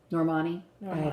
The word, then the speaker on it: Normani: Rashad or or nor Normandy to win right Norman I said her name wrong the whole time Normani win I'm so